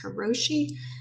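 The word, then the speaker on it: 過労死: But Japan has long had a name for burnout, which is, I think it's pronounced karoshi, which means basically death from overworking.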